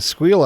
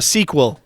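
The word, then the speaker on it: SQL: Would love to listen to a squeal on angles or maybe A sequel. a sequel. Sequel. That's how you pronounce out those letters.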